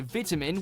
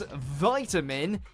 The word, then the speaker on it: vitamin: say the word is in the UK you'll hear vitamin with a small I but in the US it becomes vitamin as though it's a capital i the short ey pronunciation is a lot more common throughout the world than the American variant the word being said this way across Europe and you may even run into it in Canada where the two lexicons